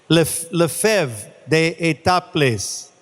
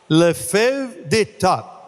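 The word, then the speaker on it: Lefèvre d'Étaples: Peter, ¿cómo se pronuncia Lefebvre d'Etaples? Lefebvre d'Etaples. Say that louder. Lefebvre d'Etaples.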